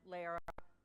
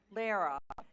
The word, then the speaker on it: Lara: Lara rhymes with Sarah, Lara.